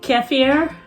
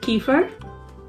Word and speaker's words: kefir: You could call it kefir or kefir, and there's other ways to pronounce it, but I'm gonna stick with kefir.